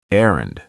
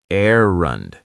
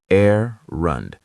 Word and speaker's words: errand: First, errand. It's pronounced errand. The stress is on the first syllable, errand, not errand, errand.